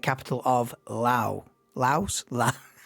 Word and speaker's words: Laos: Laos. La. I'm great on the pronunciations. I got a clue, mate. I've got a clue. It's Lao. You don't say the S.